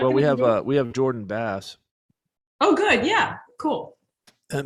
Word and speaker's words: Bass: Hey, I got to ask right off the bat, is it Jordan Bass, like the fish, or bass like Harry's jokes? Okay, Bass, like the No, fish. you got it. You got it right the first time.